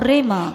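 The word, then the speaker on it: rhema: it is called either rima or rema.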